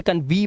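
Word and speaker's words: convey: आता है तो दोस्तों ई वाई का जो उच्चार ण है वो क्या करना है ए करना है जैसे कन्वे अब इसे कन्वी मत पना कन्वे सर्वे अब सर्वी नहीं है ई वाई का उच्चारण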